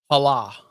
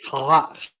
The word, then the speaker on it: challah: Hala. That's not how you pronounce that, he says. Challah.